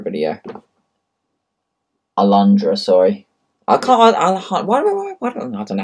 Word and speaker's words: Alundra: the longest Euro demo um how long's the Alejandra video alundra sorry I can't why don't I don't know